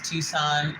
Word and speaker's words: Tucson: Lighthouse I did not the proper way to say it is Tucson Arizona um but I like